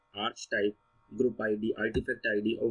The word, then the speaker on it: archetype: आर्क टाइप या आर्च टाइप आप जो भी बोलें, आप कुछ भी प्रोनाउंसिएशन हो सकती है किसी की, मैं आर्च टाइप बोलता हूँ, बहुत सारे आप आर्क टाइप सुनेंगे।